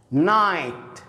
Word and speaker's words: night: night الجي اتش لا ينطق طبعا night.